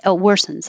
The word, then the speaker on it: worsens: Looks like OR, sounds like ER, just like were.